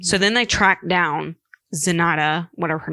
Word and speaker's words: Zenaida: Zendaya Gonzalez. Right? Zenita. Let me find it because I don't know how to pronounce it. It's in the second paragraph. Zenaida Gonzalez. Zenaida. That's what it is.